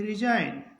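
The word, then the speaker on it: resign: नहीं होगा इसको पढ़ेंगे रिजाइन इसके बाद जी एन एटी इसको पढ़ेंगे नेट जी के बाद एन है तो जी का उच्चारण नहीं होगा यानी कि जी के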